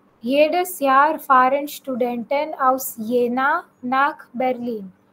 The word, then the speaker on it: Jena: Jedes Jahr fahren Studenten aus Jena nach Berlin. German में हमेशा याद रखो जे को हम वाई प्रोनाउंस करते हैं.